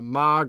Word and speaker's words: Maag: Um, the next one up is the Mog or Maag, EQ, depending on how you say it.